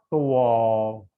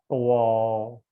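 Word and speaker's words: 多: Tiu tuo, te u o tuo, ya, tuo, tuo, ya, dibacanya kita tuo, ya, tuo artinya banyak, tiseng maka suaranya harus datar, ya, dan kenceng.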